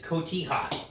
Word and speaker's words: cotija: I've already provided my disclaimer about this broccolini, and it's cotija. Rayo gently corrected my pronunciation, and that is just fine.